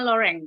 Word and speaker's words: Loren: artis namanya Sophia Loren tulisannya Lorentz Tapi bacanya loreng karena bahasa Prancis itu Hai semuanya itu terinspirasi